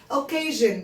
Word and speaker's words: occasion: بصوا يا ولاد مش احنا بنقول ان TION شن هنا بقى SION شن occasion بس بنقول شن occasion.